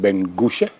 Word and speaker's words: Ben-Gushe: She's the Principal Director of the National Integrity Action, and Bishop the Reverend Ben-Gushe. Correct. Pronounce it right? Ben-Gushe or She? She. I got it right.